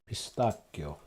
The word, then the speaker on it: pistacchio: Just read it with a K and you're fine with the pronunciation. Pistacchio.